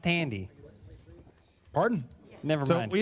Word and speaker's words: Thandie: I believe it's pronounced Tandy.